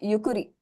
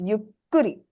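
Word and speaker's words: ゆっくり: Yuki so it's different it's not yukuri it's yukri yukri yukri right there's a small pause there another word I would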